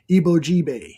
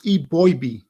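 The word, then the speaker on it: Eboigbe: man from Alabama Justin ebo it's it's pronounced e boy e boy that's how it's pronounced and again this is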